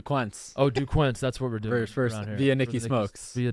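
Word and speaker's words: Duquesne: days ago or whatever even if you're trying to mispronounce it it's dzn not yeah duquin like in Middle School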